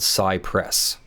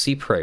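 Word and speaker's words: cy-près: really understand that much the doctrine of see pray which is spelled sigh press but it is actually pronounced see pray we look this up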